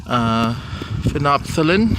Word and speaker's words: phenolphthalein: Phenolphthalein or phenolphthalein, depending on how you pronounce it, on the left, and bromocrestal green on the right.